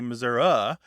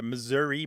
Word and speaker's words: Missouri: was taking over and the Missouri pronunciation was disappearing except as you say by politicians who think that they're going to Garner some votes by seeming like an authentic Missourian yes well Grant you're an authentic Missourian yeah I say Missouri but you know that's because as I'm younger and pretty much that my father who passed away a few years ago he said Missouri and so that's typically